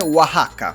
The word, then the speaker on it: Oaxaca: Sì, Oaxaca. Pronunciata perfettamente, direi, è difficile raga pronunciare questa città.